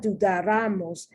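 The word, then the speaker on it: dudáramos: It's not dudaramos, it's dudaramos. So the accent should be right here. But since it's not where it's supposed to be, next to the last syllable, rather it's the syllable before that, then I must put an accent.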